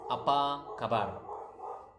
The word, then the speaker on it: apa kabar: It's apa kabar. Okay, apa kabar. That's how you say how are you. Apa kabar. So natural speed would be apa kabar.